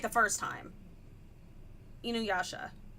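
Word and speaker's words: InuYasha: Inuasha, not inu, which that might be the English pronunciation.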